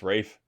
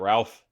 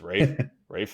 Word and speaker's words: Ralph: for conclave and yes it is pronounced Rafe is not Ralph it's Rafe Rines and Sebastian Stan